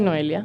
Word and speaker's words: Noelia: Es Noelia. Yeah. Sí, mi amor. For people that can't pronounce it, Please.